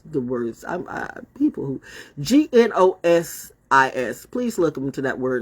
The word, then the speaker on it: gnosis: words I'm uh people g-n-o-s-i-s please welcome to that word and learn how to spell it right I mean learn how to say it right it's Gnostic gnosis or whatever not good